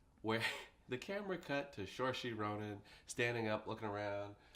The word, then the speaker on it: Saoirse: be able to pronounce psoriasis Rohan incorrectly. I'm pretty sure it's Saoirse, but go on. Saoirse. Yeah, it's Irish.